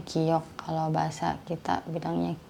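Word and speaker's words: 기역: Kalau mereka sebut ini giok. Ini cara bacanya. Kalau hangulnya giok.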